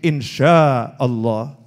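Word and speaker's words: إن شاء الله: Nah, tulisannya INSHA tapi dia bacanya itu insya. Oh, keliru nih itu ya. Oh itu pakai shin, insya Allah.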